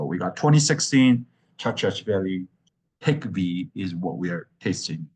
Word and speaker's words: Khikhvi: from what I understand K is at the very beginning is silent but everything else is uh pretty much uh pronounced pretty fanatically so the khi kvi is pronounced hick V so we got 2016